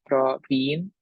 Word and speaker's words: Praveen: I'm Praveen, as I mentioned before, pronounced as Praveen with the double E.